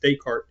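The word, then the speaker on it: Descartes: You know, his name is Decart. I know there's an s at the end, but you don't pronounce it. Just daycart.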